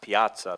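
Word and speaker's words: Piazza: it Piaza and I was saying it's it's pronounced Piaza Piaza and it for some reason it it turned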